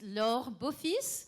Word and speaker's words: Laure Beaufils: Laure Beaufils. Dear, mali yung mga pronunciation. I shall say one thing. It is a name of French origins, and I've said before, I've seen it all, so don't worry.